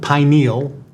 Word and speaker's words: pineal: I pronounce it pineal. It's not as sexual. So the pineal gland is the way I say it, and the hippocampus.